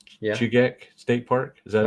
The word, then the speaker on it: Chugach: Chugach. Yeah. Chugach State Park. Is that how it's pronounced?